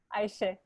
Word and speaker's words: Ayse: I'd love to, Ayse. Please. Am I pronouncing your name well, Ayse? Yes, Ayse.